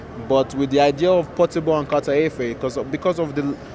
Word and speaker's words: Portable: Am I pronouncing his name right? Because I'm just calling it Portable. It's Portable, yeah. Portable, all right.